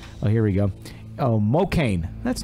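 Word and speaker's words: Mokane: Oh, Mocaine. That's not bad. No, it's kind of like Spokane, but it's Mocaine. Mocaine. Okay. In Mocaine, Missouri. Mocani or something, because I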